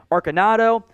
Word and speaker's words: Arcanado: Louis-Jean Winningham, Cedric Bird, Deontay Burnett, Brandon, I got to make sure I pronounce it, it's a hard C. I almost stumbled over there like an idiot there. Brandon Arcanado, Ja'Cour Pearson, Sean Price,